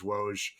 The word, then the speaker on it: Woj: But anyway, the world knows you as Woge. Everyone knows you as Woge and that has never been mispronounced.